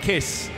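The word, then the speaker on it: Kiss: On polo, Norbert Kish, if you want to pronounce it the way it should be said, on pole position, just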